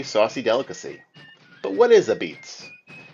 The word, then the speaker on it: apizza: Jason Bischoff-Wurstel to talk about the new exhibit, Pronounced Ah-Beetz, and the story of everyone's favorite food.